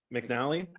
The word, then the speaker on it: McAnally: It's pronounced McNally, In McNally. but it's McAnally.